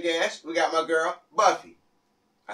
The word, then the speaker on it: Buffy: We got my girl, Buffy. I said it right? Yes, it's Buffy.